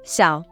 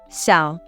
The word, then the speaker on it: 小: It is pronounced as 小. Let's see how to write this character. This character has 3 strokes. 小.